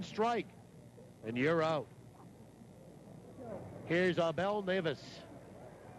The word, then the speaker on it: Abel Neves: Here's Abel Neves. Spells his name A-B-E-L. It's pronounced Abel Neves.